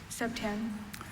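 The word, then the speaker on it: septième: Setyam. Setyam. Are there any alternate pronunciations?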